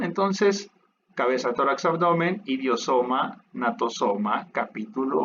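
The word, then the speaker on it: gnatosoma: Esta no es una cabeza, bueno, se le conoce más bien como falsa cabeza o natosoma. Se escribe G, natosoma.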